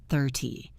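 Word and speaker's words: thirty: 13 30 14 for tai 15 50 Hear that rhythm? It is a drum beat. The teen is heavy. The ty is light.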